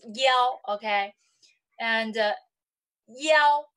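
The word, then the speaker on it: 幺: Because I have said that yi can also pronounce as yao, okay?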